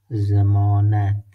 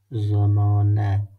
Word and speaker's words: ضمانت: In a word, like for example, we have zamanat. Zamanat. Zamanat means warranty or guarantee. Zamanat. Look, the pronunciation is Z, like Z. In Pashto language, all the time, Zod pronunciation is like Z.